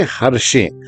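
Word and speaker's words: हरषे: यहां हर्षे को आप समझ लीजिए हर्षे। जैसा मैंने गत सत्संग में कहा कि बहुत सा उच्चारण शा अक्षर का सा से भी होता है, तो आवती हर्षे नहीं मतलब हर्षे नहीं।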